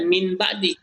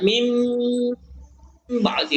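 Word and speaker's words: من بعد: Nah, kalau kita baca secara sekilas, ini bacanya min ba'di. Tapi dia iqlab, jadi kita baca mim ba'di, baru ditahan.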